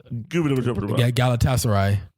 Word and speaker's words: Galatasaray: Galatasaray. Oh, that's how you pronounce it.